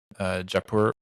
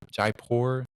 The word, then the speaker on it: Jaipur: else um but um it was in uh japur japur Jaipur I think is how you say it Jaipur